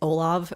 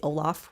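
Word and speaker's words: Olav: again I think in in Norwegian it's Olaf but in English we would say Olaf with the F but it's actually spelled with a v um Haralson and the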